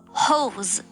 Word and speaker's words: Hose: Oh yeah, and a hose in German is Hose. What? So again, if you pronounce the word hose, no one will know you're talking about pants.